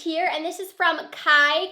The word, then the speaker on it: Cai: So I just opened the next package here, and this is from Kai Cosmetics. I believe is how you say it, C-A-I Cosmetics.